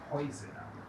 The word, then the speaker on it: Häuser: En este caso decimos Häuser. Se cambia la pronunciación de esa cosa, de esa palabra.